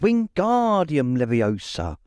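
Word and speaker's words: Wingardium Leviosa: arms like a windmill you're saying it wrong Harry heard hermani snap it's Wing guardium Leviosa make the G nice and long you do it then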